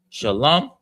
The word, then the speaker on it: Shalom: Shalom is pronounced, that the sha is pronounced by itself. The lum is together. The la and the ma are connected. So it's lum. So it's sha, lum, and then ya.